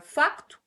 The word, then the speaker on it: facto: nenhum, porque, por exemplo, no caso da palavra facto, que em português de Portugal o C não é mudo, e obviamente ao tirarmos